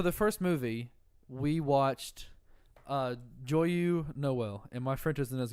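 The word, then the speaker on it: Joyeux Noël: No, that's spelled differently. Okay. It's Joyeux Noel.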